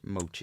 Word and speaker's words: Mochi: We've had a comment from her before, and we struggled to pronounce it, and she commented back. Oh yes. To say it was Mochi. Mochi.